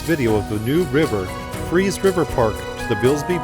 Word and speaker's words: Fries: Johnny Atkins River Park not fries it is spelled like fries but is freeze so I stand corrected